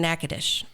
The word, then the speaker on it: Natchitoches: And it's actually in Robert Harling grew up in Natchitoches, not Nacogdoches.